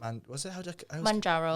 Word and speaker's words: Mounjaro: Mounjaro. Mounjaro. I was going to pronounce it wrong.